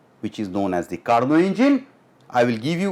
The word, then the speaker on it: Carnot: Carnot is the right pronunciation.